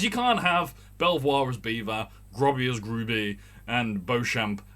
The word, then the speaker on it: Belvoir: pronounced catherine street when you've got belvoir as beaver why are you sensitive